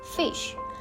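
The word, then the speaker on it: ghoti: his fictional word goty according to Shaw Gotti could be pronounced fish by using f as in enough e as in women and Sh as a nation while this example is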